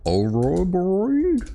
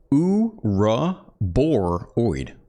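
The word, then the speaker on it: Ouroboroid: This is similar to the sound of the word Ouroboros, from which the name is derived. Boar, this is a straightforward pronunciation of boar. Oid, Uruboroid. A rubberoid.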